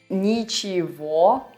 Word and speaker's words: ничего: And also notice how in the word ничего we write g, but we pronounce it as v.